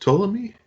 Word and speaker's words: Ptolemy: But that one, and then third one, I'm gonna say is it pronounced Ptolemy?